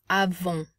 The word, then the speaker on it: avons: Notice we can't pronounce the final consonant. And then, because there's no E to make the N pop, it is going to not be pronounced, but instead nasalize the O sound.